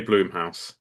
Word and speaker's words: Blumhouse: Blumhouse? Blumhouse? I would say Bloomhouse.